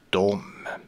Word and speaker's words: dem: Båda de orden uttalas för det mesta dom. De kan uttalas de och dem kan uttalas dem. Men det vanliga är att man säger dom.